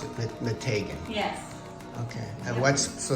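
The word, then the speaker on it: Meteghan: tank and the taking because that's how you pronounce it mategan yes okay I watched so special about mategan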